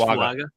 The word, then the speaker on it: Fuaga: Fuaja, I say his name, Fuaja? Felice Fuaga.